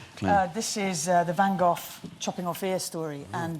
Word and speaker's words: Van Gogh: what do you reckon van Gogh is it go he's meant to be pronounced the same as lock they Scottish a lot